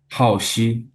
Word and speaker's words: Haoxi: But your name, your Chinese born given name is how do you pronounce that? Haoxi.